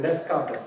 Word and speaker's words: Descartes: It sounds like Descartes, right? But it is actually Descartes. The way you pronounce that is Descartes. Descartes. Yeah. But because French pronunciations are different from English.